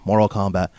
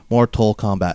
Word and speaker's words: Mortal Kombat: morale cut come on how hard is it say Mortal Kombat Mortal Kombat it's four syllables m'kay what michael kors